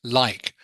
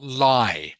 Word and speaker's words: like: Okay, just remember always, everyone, to pronounce that last consonant sound, such as like, not lie. Otherwise, it sounds like a different word.